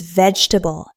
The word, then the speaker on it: vegetable: even diet plans, but many learners stretch it into too many strong beats. So, it sounds slow and a little unnatural in casual conversation.